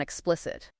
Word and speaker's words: explicit: I think Zia, what's the lowdown on explicit? Explicit pronunciation is X P L I S it. The stress is on the second syllable.